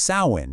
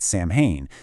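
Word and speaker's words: Samhain: And right off the bat, it's pronounced Sain, not Sam Hayne.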